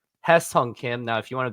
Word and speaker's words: 김혜성: Now, all you Americans say it as Hye Seong Kim, and some say it as Hye Seong Kim. But here's your Korean lesson of the day. It's Hye Seong Kim.